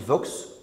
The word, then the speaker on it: Vox: Le premier de ces points fondamentaux, c'est la percée d'une droite radicale, d'une extrême droite, incarnée aujourd'hui par le parti Vox, à prononcer à l'espagnol, qui est classé, à tort ou à raison, comme un parti europhobe ou eurocritique.